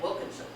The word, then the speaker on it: Wilkinson: I would not say that. I would say clergyman, and I would swallow those last 2 syllables. I would not say Wilkinson, Wilkinson. I would say Wilkinson, and I would swallow those last 2 syllables.